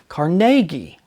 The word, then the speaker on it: Carnegie: but she said that most Americans mispronounce his last name she said the name is actually pronounced caragi to test her claim I listened carefully as other people in other museums pronounced his name they pronounced it as she had since being put in